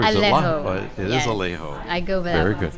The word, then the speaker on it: Alejo: is Alejo. I go by Very that one. good. It's very, very easy to pronounce.